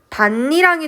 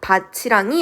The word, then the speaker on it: 밭이랑: 자, 근데 얘를 바디랑이라고 발음하지 않고 사람들이 그냥 니은을 첨가해서 추가해서 하더라는 거예요. 왜 그런지는 몰라요. 그렇게 후천적으로 바 발음이 된 거란 말입니다. 그래서 니은을 추가해서 발음을 맞추고 아까 배웠던 바 비음마에 의해서 디귿과 니은이 만났으니 니은으로 바뀌는 구개 저 비음화가 일어나서 최종 발음은 반니랑이 되는 겁니다. 바치랑이 아니라.